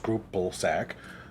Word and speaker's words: Scripplesack: The DMPC was a level 20 goblin named Scripplesack, pronounced Scrupplesack.